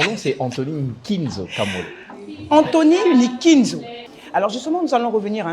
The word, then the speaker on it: Nkinzo: Anthony Ninzo bonjour monsieur nikinzo bonjour madame je prononce bien alors mon nom c'est Anthony Ninzo Anthony Ninzo alors justement nous allons revenir tout à l'heure